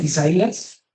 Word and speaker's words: Isaías: Entonces, esta palabra no tiene 3 sílabas, no es esai, as, tiene 4 sílabas. Es e, sa, i, as.